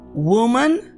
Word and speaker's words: woman: má preste muita atenção porque woman com a singular porém se for escrito com e você vai pronunciar Women e é plural então woman Women nós vamos lidar com